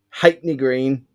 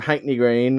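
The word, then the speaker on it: Ha'penny Green: on this podcast, but it's from Hackney Green, which is spelt half penny. Yeah. But it's from Hackney Green, and they're meant to be nice, I think.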